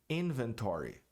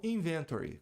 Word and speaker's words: inventory: Inventário, inventory, e não inventory, como muita gente diz.